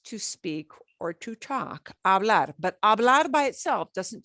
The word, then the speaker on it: hablar: we don't pronounce pronunciation you don't pronounce the h hablar i'd like everybody